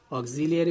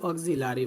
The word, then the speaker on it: auxiliary: ওকে, তো আমরা এই যে ভার্ব ব্যবহার করি একটা বাক্য লিখতে গেলে, অক্সিলিয়ারি ভার্ব ব্যবহার করি, আবার কি বলি? মেইন ভার্ব বলি। তো আমরা বলি অক্সিলারি ভার্ব, অনেকেই বলি, সবাই বলি না কিন্তু।